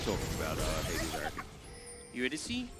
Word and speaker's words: Eurydice: Eurydice? That's how you pronounce it, isn't it? Yeah.